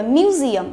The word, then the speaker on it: museum: Museum, không đọc là museum, hiểu chưa? Không đọc museum mà là museum. Tức là từ museum này trong âm của nó rơi vào âm tiết thứ hai, museum.